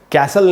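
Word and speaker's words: castle: की सजा दोस्तों इसको कैंसल नहीं पड़ना चाहिए तू दूसरे इसमें यह जो चीज है यह साइलेंट होता है इसलिए इसको पढेंगे कासल कांसल का क्या मतलब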